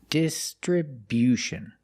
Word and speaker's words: distribution: We move the stress to the first and third syllables. The first syllable dis distribution and the stress on the third syllable too with bu distriution. Stress on the first and third syllable. And remember it's not distribution, it's distribution. Make that y-yu sound after the b.